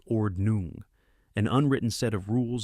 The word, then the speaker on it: Ordnung: Different Amish communities called church districts or command establish their own ordnong pronounced ordnung an unwritten set of rules guiding behavior and technology use.